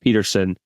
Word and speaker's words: Pettersson: I think it's actually pronounced Peterson, who I don't know if you know much about him from Pittsburgh.